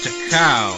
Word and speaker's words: Takao: I'm going to just like see how this is pronounced because this is bugging me. Okay, Takao.